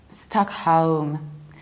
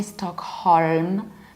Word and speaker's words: Stockholm: to Scandinavia Sweden the capital of Sweden is stuck home stuck home we don't pronounce it with a show we don't say star and I would skip left we don't say Stockholm but we say stuck home I home like